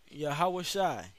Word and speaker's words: Yahawashi: that's the name of the heavenly father's son yeah how was shy okay that's how you would correctly pronounce the name of the lord um the